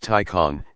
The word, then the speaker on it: Taycan: a serious tesla contender the taken pronounced tycon is at least as